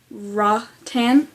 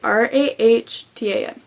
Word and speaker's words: Rahtan: 3 fierce young women of pardon my mispronunciation. Ratan. It's Rahtan.